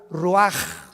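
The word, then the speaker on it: רוּחַ: Roach así como suena se pronuncia la ch en hebreo como J ruaj se le só y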